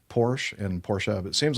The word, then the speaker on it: Porsche: It's Porsche. Yeah. Porsche. Porsche. We We pronounce the E. The last E.